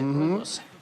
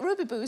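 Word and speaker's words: rooibos: yeah it's astonishing but is it better than Robos oh the South African tea isn't it Robos I'm so glad that you said I didn't know how to pronounce that I've been calling it Ruby Boo for years I was 33 still ordering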